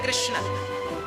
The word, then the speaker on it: कृष्ण: हां वेद मंत्र है ये शुद्ध उच्चारण इसका क्या है हरे राम हरे राम राम राम हरे हरे हरे कृष्ण हरे कृष्ण कृष्ण कृष्ण हरे हरे ये वेद मंत्र बोल रहा